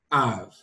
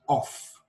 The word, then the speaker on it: of: This sound is also found in this word, av. This word is not pronounced off. To get the sound off, this is where you get the sound off, O-F-F. But O-F is pronounced av.